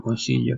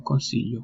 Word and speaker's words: consiglio: Then another tip could be pronouncing yi as we pronounce LJ, yi. For example, consiglio, consiglio.